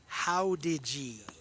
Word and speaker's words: Jauregui: Alyssa Hadeggy. Her last name is spelled Jauregui. It's pronounced Howdigi.